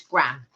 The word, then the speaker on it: graham: They're pronounced in the States gram. Like 50 grams.